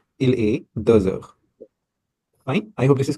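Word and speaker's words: heures: We will say the the we already know we will write h e u r e s. Please do not forget this. Okay, this s is important here. So the fine the pronunciation will be aer.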